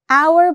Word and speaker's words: hour: And H is silent. Our begins with a vowel sound, our.